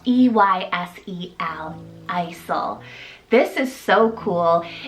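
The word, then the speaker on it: Eysel: Last E option here, guys, is the name Isel, spelled E-Y-S-E-L, Isel.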